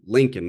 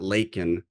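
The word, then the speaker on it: Laken: And then unfortunately, this was another one of the verbal flubs because he says Lincoln Riley. He says, I'll say her name, Lincoln, not Lakin.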